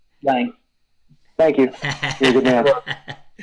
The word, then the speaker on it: Lange: as good in my mind as, say, Mutt Lange, or Lange, or however you say his name. Lange.